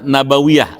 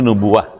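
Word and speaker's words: nubuwwah: di dalam mengucapkan syahadat Nabawiyah Ah boleh dibacanya Nabawi y Kalau saya bilang kan tadi nubuwah ini yang bagus Nabawiyah ah ketika Bapak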